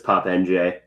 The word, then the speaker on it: Pape N'Diaye: Uh that is not how you It is not phonetic. Uh it is spelled p a p e n apostrophe d i a y e Uh but it's Pape N'Diaye.